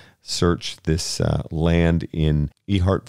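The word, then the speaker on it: Ehert: this uh land in e heart virginia e-h-e-r-t so the letter e followed by heart i'm going with my gut on the yeah pronunciation that's right i've honestly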